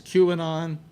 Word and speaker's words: QAnon: Is that how it's Yeah, pronounced? QAnon.